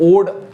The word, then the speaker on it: ode: हम इसको पढ़ते हैं, कुछ लोग इसको ओडे पढ़ते हैं, बट हम इसको पढ़ेंगे ओड because it's the correct pronunciation ओड।